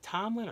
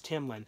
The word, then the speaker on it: Timlin: I'm always saying her name wrong though. I think Tomlin or Timlin. I think pretty sure it's Timlin.